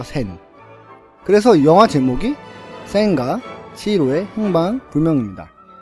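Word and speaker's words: 千: 놓고나니 이제라는 이름이 남습니다 그 일본어 발음으로 센이라고 하는거죠 센 그래서 영화제목이 센의 행방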